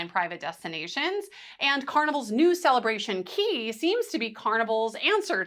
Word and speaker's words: Cay: C A Y and C A YS are generally pronounced key and perfect day kind